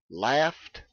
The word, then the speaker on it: laughed: consonant laugh cough and we pronounce that e d simply as t a t sound without any vowel laughed coughed so that ought